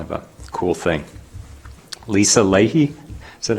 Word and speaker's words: Leahy: And then I wanted to mention, because this was kind of a cool thing, Lisa Leahy, is that how you pronounce? Yes, Lisa Leahy, received the Wisconsin Nursing Home Social Workers Association Award for Social Worker of the Year.